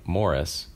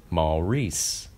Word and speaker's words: Maurice: his real-life insistence that his first name was pronounced the same as the name morris was ironically at odds with his bewitched character's contrasting stance that it be pronounced maul reese evans also appeared in